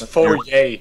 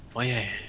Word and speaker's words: foyer: I wrote it as foyer, like... Foyer. Nowhere in that word you can hear an R. I know, but it's foyer. Foyer.